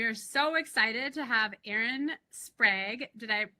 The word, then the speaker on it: Erin Sprague: I'm here with Camp and our guest today, we are so excited to have Aaron Sprag. Did I pronounce that right?